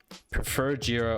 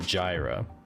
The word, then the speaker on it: Jira: i do like jira what i can't stand is people calling it gyra because jira actually has a help page titled how to pronounce jira properly so if anyone ever